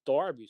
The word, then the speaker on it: Derby: of one of our midlands um cities at darby county yeah don't be yeah d-e-r-b-y yeah i